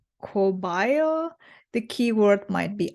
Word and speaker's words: caballo: For the Spanish word for horse, caballo, pronounced cobayo, the key word might be I.